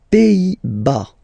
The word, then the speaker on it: Pays-Bas: Les Pays-Bas. Final S here, not pronounced. Same thing here. Pays, and then bas.